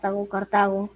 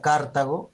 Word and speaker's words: Cartago: Cartago. Si sería Cartago, sería una esdrújula, entonces llevaría tilde.